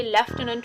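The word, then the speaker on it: lieutenant: इसमें एफ तो कोई है ही नहीं, तो हम फ कहाँ से सोच लेंगे कि यहाँ पे लेफ्टिनेंट फ साउंड यूज हो रही है।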